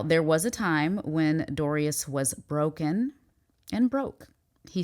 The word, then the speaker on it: Darius: Actually, the emphasis is on the re, so it's Darius.